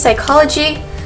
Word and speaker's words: psychology: then previously but she's psychology um you don't necessarily pronounce the p uh this is more like a silent p it's not psychology it's